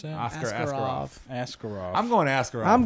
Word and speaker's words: Askarov: How do you pronounce that? Askarov.